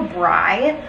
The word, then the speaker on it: braai: We're gonna do a braai. A braai, it's spelled B-R-A-A-I, I think.